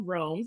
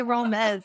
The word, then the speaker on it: Roames: with the amazing Crystal roams is that what you pronounce Joe's name yeah it's wrong some people say romez okay with the amazing